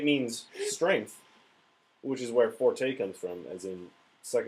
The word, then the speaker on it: forte: strength which is where Forte comes from as in suck and dick is my forte okay sucking dick is my strength but I'm pretty sure it's Forte because it's Italian in any case P